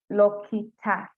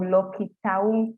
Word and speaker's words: Lokitaung: Natalie from Lokita. Just a minute, let me get my pronunciation right. I'm sorry about that. Let me just pronounce that right. Yes, we have Natalie from Lokitaung Primary School in Turkana, who is the first runner-up.